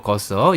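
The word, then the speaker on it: Goethe: 아이작 하자, 페페 마르티, 올리버 거서. 이 친구는 F3 있다가 F2에 막 올라간 올리버 거서 있고요. 아이작 하자는 프랑스, 페페 마르티는 스페인, 올리버 거서는 독일입니다. 괴테죠, 괴테. 네. 괴테의 그 스펠링입니다.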